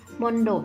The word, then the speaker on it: มณฑป: ถัด มา นะ คะ มณฑป อ่าน ว่า มอ อก นร มน ดอก บ่ ใด้ มณฑป นะ คะ หมาย ถึง